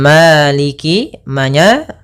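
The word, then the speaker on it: مالك: Pada lafal maliki buka fathah mulutnya agar menyempurnakan fathahnya. Ma bukan ma tapi dia Maliki Maliki yaum maiki yaumiddin.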